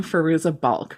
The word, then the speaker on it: Fairuza Balk: and for some reason wait you pronounce her name farooza bulk right is that yes okay so for some reason in my memory it was like a little version of the Fairuza Balk who was in The